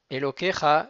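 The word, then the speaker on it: אלהיך: Elokecha, il est Milleael, c'est-à-dire par occiton, c'est l'avant-dernière syllabe qui va être jouée. Elokecha, et pas Elokecha.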